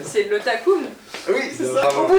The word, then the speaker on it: Takoum: Elle dit pas le nom parce qu'elle n'arrive pas à le prononcer. C'est le Takoum.